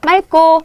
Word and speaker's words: 맑고: 리을로 발음한다. 그래서, 맑고, 맑게.